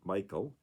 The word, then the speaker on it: Michal: And she goes on, though David became Saul's son-in-law and was loved by both Saul's daughter Michal, or some pronounce it Michael, and his son Jonathan,